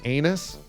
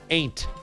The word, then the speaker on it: ain't: Did you say you think they hate us because we're anus? No, isn't the term ain't us? What? Ain't us. Ain't. Yeah, that's what I'm saying. Ain't. You got to pronounce the T there.